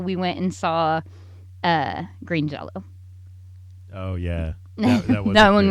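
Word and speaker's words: Green Jellö: the pro-liner notes that that it's still pronounced Green Jello yeah they had this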